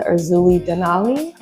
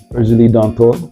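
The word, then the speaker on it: Erzulie Dantor: And you talked about, please correct my pronunciation, I got you. But it was the Urzuli Denali? Urzuli Dantor.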